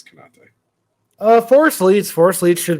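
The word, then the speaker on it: Konaté: It's Konate.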